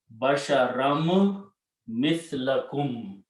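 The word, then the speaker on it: بشرا مثلكم: meme after that, then this noon sound is also pronounced as the sound of meme. So for that, we put a shadda here, and we pronounce meme twice, basharam mithlakum.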